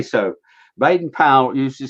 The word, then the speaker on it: Baden-Powell: Baden-Powell. Baden-Powell, not Baden-Powell. Well, you say so. Baden-Powell used to say that his name was that Powell rhymed with pole, but he also tells